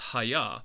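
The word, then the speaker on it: היה: the aleph we have a word that's pronounced hayah which is essentially kind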